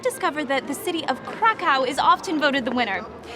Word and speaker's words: Kraków: Krakow, pronounced Krakow in Polish, was the capital of Poland prior to Warsaw.